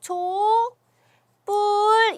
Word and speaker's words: 촛불: 발음이 되는지 한번 해볼게요 촛불 이렇게 바르면 되요 어떻게 발음 한다구요 첫 번째 이렇게 발음 한다구요 초 뿔 이렇게 지금 발음이 되고 있습니다 여러분 어찌 그 보시면